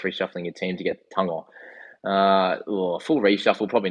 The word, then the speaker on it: Tago: Who is Tango? So that's the correct pronunciation for Isaac Tago, which everyone calls it. But Tango is Tago.